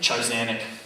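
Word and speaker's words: Tchar'zanek: Charzanic.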